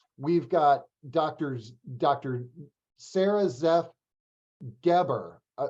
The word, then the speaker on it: Geber: Sara Zeff Geber, right? Did I pronounce it?